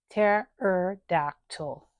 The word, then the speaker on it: pterodactyl: For example, you see the P in there, but it's not going to pterodactyl. Pterodactyl. That's how you say that word.